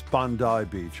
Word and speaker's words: Bondi Beach: It's Bondai Beach. I knew we were pronouncing wrong.